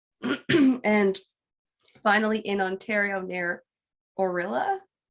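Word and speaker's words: Orillia: finally in ontario near orella i think is how you say it like gorilla without the g so i have no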